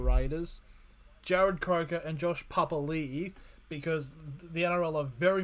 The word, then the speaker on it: Papali'i: Jared Croker and Josh Papali'i, because the NRL are very much implementing that is actually how you pronounce his last name.